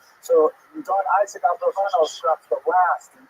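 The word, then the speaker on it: Abravanel: Many people pronounce his name Abarbanel, and that's because it's much easier, as Stephen says, it's much easier to rhyme the song to the name Abarbanel. You know, I was talking about it, a soft rock version of Abarbanel, but it's most likely pronounced Abravano or Abravano.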